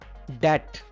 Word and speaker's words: debt: Debt. Debt. B is silent here.